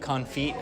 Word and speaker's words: confit: It's pronounced confit. Oh, yeah. Fiasco's saying it's confit. Is he saying confit? It's confit. He's... Confit. Yeah. Oh, confit. We don't. The T is silent.